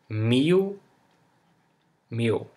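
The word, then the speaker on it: mil: end of a word this L sounds like uh o you know like in me me o or or Nat na to like we if we had a u here in the end so me not and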